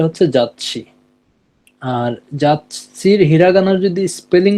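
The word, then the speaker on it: 雑誌: ওইটা আলাদা উচ্চারণ হবে আর যদি ওইটা হচ্ছে একটু ছোট থাকে তাহলে দুইটাকে যুক্ত করবে এখানে যেমন বাংলাতে খন্ডোত্তর উচ্চারণ হইছে অনেক জায়গাতে এটা একেবারেই উচ্চারণ হয় না।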